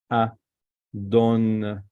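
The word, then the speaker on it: אָדוֹן: Adon, Adon. So remember, this is Holem. This is O letter, O. This vowel, sorry, O vowel, O. This is Kametz, A.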